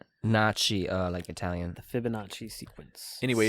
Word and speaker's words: Fibonacci: Oh, Fibonacci. Fibonacci. F-I-B. O-O-O. Nachi. Oh. Nocci. Nachi, like Italian.